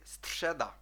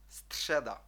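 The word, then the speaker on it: středa: орудувати цим звуком друзі у слові стшеда стшеда має трішки забреніти і ми знаємо що стшеда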